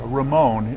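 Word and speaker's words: Ramón: to tell you that chef raymond who is the chef here ramon that's the spanish way of pronouncing it is uh is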